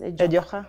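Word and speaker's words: ejok: That you pronounce it as Ejoha. Ejoha. Oh, the K is Kh. Yeah, Ejoha.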